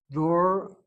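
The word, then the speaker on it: דור: Door is not the same as doar.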